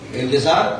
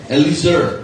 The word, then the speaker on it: Eliezer: Eleazar, mali ang iyong pronunciation. Ano ang pronunciation niya? Hindi Eleazar, ano? Eliezer. Ayan.